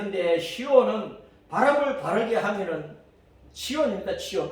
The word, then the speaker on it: 시온: 신명기 4장 48절에 보면 헤르몬산을 시온산이라 그랬는데 그것은 발음이 시온 맞아. 히브리어 시온이 맞아. 그 시온 헤르몬산은 아주 높은 산이잖아요. 그래서 시온은 높다 올라가다 그런 뜻이란 말이에요.